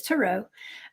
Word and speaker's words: tarot: uh the tarot okay I say tarot because I'm from the South but it's tarot okay I understand I'm